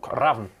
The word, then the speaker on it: RAVN: It's so Raven. But it's RAVN, so I guess Raven without the E.